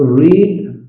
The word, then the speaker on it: read: शी हैड रीड her book. रीड का तो एक कोई प्रोनाउंस रेड भी बोलता है। लेकिन मैक्सिमम दोनों तीनों फॉर्म सेम है।